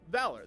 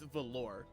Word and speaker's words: Valor: weapon in Terraria called Valor The Valor it's a yo-yo but for some reason he always pronounces it as velor and I'm like no stop bad piss I'll get